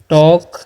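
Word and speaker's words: talk: है लिखा हुआ है वी टॉक यहां पर एल साइलेंट होता है ठीक है वी लाफ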